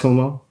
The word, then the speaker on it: Cuomo: Cuomo. Chris Cuomo. Wow. Yeah. You did Chris Cuomo?